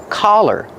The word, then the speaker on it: collar: Use the sound ah. The open sound ah like hot and stop. C- collar. Don't be confused with color. Color has the short uh sound like cup and up.